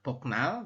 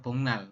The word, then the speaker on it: 복날: bongnal ya b bongmal tulisannya boknal tapi kita membacanya bongnal bongnal itu hari apa